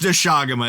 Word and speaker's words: Doshaguma: yeah, it's Doshaguma is how it's pronounced. Yeah. I mistakenly announced it Doshaguma, I think is how I just said it.